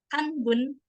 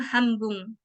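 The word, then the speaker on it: 半分: Contoh yang lainnya ini ada Hanbun. Tapi karena bertemu lagi huruf B jadinya Hambung. Hambung.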